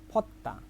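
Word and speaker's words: 벗다: এবার দেখেন ফত্তা ফত্তা ফত্তা আমি বলি ফজদা ফজদা ঠিক আছে এটা হলো কি আমি নিজে নিজে পড়ি যখন আর মানুষের সামনে যখন বলতে বলি তখন কি বলবো ফত্তা ফত্তা সঠিক উচ্চারণ ফত্তা তো ফজদা ফজদা মানে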